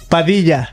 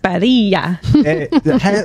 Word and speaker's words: Padilla: Today we're the special guest, Nicole Padilla. Padilla. You pronounce it pretty well.